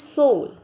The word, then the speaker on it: shoal: This is soul, SHOAL. What is the pronunciation? Soul.